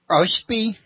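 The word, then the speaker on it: Oahspe: book several times that would be how i pronounce it all planned say it again Oh Spee OSP OSP well I was not very far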